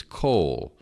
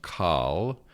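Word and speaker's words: כל: pronunciations uh one is coal uh this looks like it should be pronounced call uh but it's this is a kamat Katan it's an O vowel rather than an a vowel all right again you're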